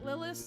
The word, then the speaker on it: Lilis: fill distilleries go ahead lilis the reason your name rhymes with Phyllis is because you are